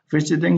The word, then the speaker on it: visiting: Visiting here is the stress is on V, so visiting.